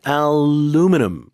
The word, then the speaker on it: aluminum: 미국 발음이 aluminum. 살짝 다르네요. 저 처음 들어봤을 때 다른 재질인 줄 알았어요. Yeah, so the UK, Korea, many places pronounce that, but aluminum, the stress completely different.